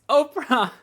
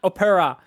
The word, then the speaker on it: Oprah: It's Oprah. It's two syllables. It's not Opera.